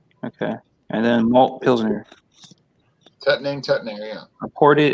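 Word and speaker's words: Tettnanger: And hops are Tet Nang. And it says, Yeah. how do you pronounce it? Tetnanger. Okay. And then malt Pilsner. Tetning, yeah.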